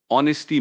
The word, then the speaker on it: honesty: Honesty means being truthful and sincere. It's about speaking the truth and not deceiving others. The silent H catches a lot of people out.